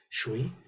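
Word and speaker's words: 水: Again, if you look up here, the pinyin Mandarin pronunciation is shui.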